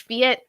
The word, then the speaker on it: Phette: I am Fiat, but people call me because for some reason Fiat is hard to pronounce for some folks, even though it's only 2 syllables, but whatever.